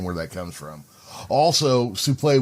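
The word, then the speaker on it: soufflé: Also, souffle would be the proper pronunciation. Yeah. Yeah. I mean, that's just, if you know how words are read in French, that's just how it works, which is weird because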